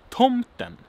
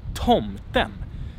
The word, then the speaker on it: tomten: So we have tomten, tomten. That's this, tomten. And with grave accent, tomten, tomten, tomten. It's the rising tone, tomten. And then we have the falling tone, tomten, tomten. It goes down, right?